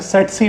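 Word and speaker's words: tsetse: देखिए यहां पे टी साइलेंट होगा। ऐसे सेट सी मक्खी पढ़ेंगे।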